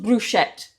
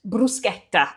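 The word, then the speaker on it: bruschetta: Okay, I'm going to make some brusqueta. Non bruschett. Bruseta, that's how you pronounce it.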